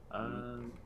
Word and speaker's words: Aodh: I'm adding things to my notes. I will tell you now. Yeah. The name is I, but it's spelled AODH. AODH.